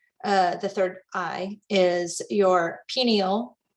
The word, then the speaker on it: pineal: And the association gland for the third eye is your pineal. Also, you might hear me say pineal, because I've heard them all pronounced different ways. So we'll just go with it.